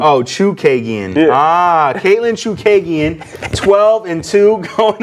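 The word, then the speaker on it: Chookagian: All right, in the women's flyweight division, Caitlin Kukagian? Chikagian, that's really how you say it? Chukagian. Oh, Chukagian.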